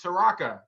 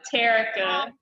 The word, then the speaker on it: Terrica: say it right again is it taraka no it's terrica eric i'm sorry i'm